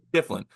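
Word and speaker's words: Schieffelin: Is the center's name Shiflin? Yep. Shiflin.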